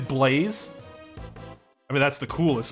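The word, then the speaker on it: Blaise: had seen somebody named this is it blaze or like blas it is blaze i mean that's the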